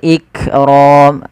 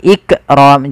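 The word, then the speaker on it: الإكرام: dibaca dengan jelas Wal iqram lafal Kaf ik ik tapi bukan ikqram jangan sampai memantulkan huruf Kaf kemudian padafal ro rnya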